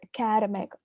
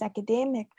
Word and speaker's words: academic: in india or in nepal we call it academic academic academic college but the correct pronunciation is academic so we try and see what have the